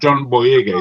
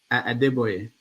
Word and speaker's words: Adeboye: Having said that, to say for Pastor John Boyega, is that correct? I forget how you pronounce his name. Adeboye. Adeboye, thank you.